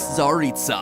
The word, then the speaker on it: Tsaritsa: The mysterious Tsaritsa, Cryo-Archon of Snezhnaya. The fact that I was able to pronounce that correctly should show that we not